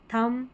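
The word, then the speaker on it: thumb: इसमें इसको म पढ़ेंगे। बी साइलेंट रहता है। ठीक है? थंब कॉम बम। अब बी यहां पर लास्ट में है ना? यह साइलेंट है। इसको पढ़ना नहीं है।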